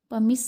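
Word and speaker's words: pumice: इसको प्रोनाउंस करेंगे पमिस से.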